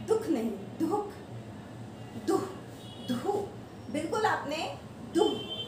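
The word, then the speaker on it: दुःख: हम जनरली बोलते हैं दुख, दुख नहीं, दुख, दुहु। ये जो अह की मात्रा आएगी वो देखो कैसे आएगी, इसमें डबल मात्रा का उच्चारण होगा। दुख में हमेशा डबल मात्रा का उच्चारण होता है।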